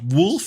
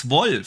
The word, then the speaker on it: Wolfenstein: the wolf wrong because it's not wolf it's voice it's off it's an old yeah but hey that's that's okay that's okay that's it that's the only word I can pronounce properly here on this show so um I gotta give you that man right yeah you say Wolfenstein no no it's Stein Stein no it's like Ramstein or you know it's shine